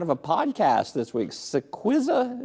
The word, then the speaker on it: Cillizza: Cillizza, is that how I pronounce it there? Tell me a little bit about what that is. Perfectly pronounced.